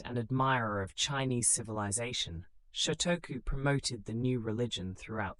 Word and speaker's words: Shotoku: Prince Shotoku, pronounced Shotoku, who served as regent in the early 7th century, became one of the most influential figures in Japanese history. A devout Buddhist and admirer of Chinese civilization, Shotoku promoted the new religion throughout the court.